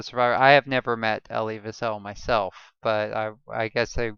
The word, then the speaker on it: Elie Wiesel: Eli Wiesel. Elie Wiesel, actually.